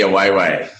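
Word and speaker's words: AWA Way: We call it the Away Way, just for everyone to know, regardless of how it sounds.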